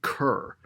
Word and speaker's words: cour: It looks to me like the pronunciation is cur, as in like rhyming with a pure, basically. That okay. or lure.